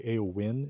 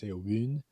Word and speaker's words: Éowyn: an Old English context, that y in a name like Éowyn is not it's not really Éowyn, it's Éowyn. It's the, uh, it's the dude vowel, I tell people. This is the vowel represented in German by a u with two dots or in French by just a u, right?